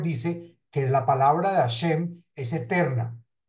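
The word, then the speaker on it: השם: de meditar El Salto nombre he Shin mem que se pronuncia hashem la ahora hagamos la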